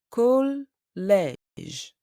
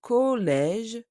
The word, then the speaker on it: collège: In the word collège, we have an E accent grave. It is different from the E accent aigu. And the sounds are different as well.